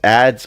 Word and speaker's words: ADs: Automated dependent abbreviated as AD and referred to in common conversation as ADS or ADS pronounced ads.